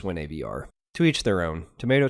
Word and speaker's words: WinAVR: Now it's technically pronounced whenever, but I don't think so. I look at it as WinAVR.